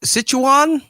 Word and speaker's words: Sichuan: the Sichu Sichuan Sichuan province Sichuan province in China on November 11th.